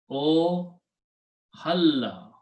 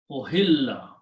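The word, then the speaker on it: أُحِلَّ: Now, if if I combine these and pronounce this way, O halla. Okay, actually kasra. Ohilla.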